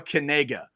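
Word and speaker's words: Knigge: no no it's not it's with that short e sound um and everybody has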